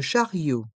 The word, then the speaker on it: chariot: parking le parking le chariot charot les voyelles I et o se prononcent ensemble Rio le Charat Rio